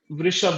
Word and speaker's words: वृष: वृषभ राशि या वृष राशि। वृष राशि ज्यादा शुद्ध उच्चारण है।